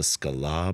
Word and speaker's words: Sklar: And I was like, "We're the Sklar brothers." And he just looks at me, and he's like, "The Sklar brothers." The Sklar. He like added a syllable to my name.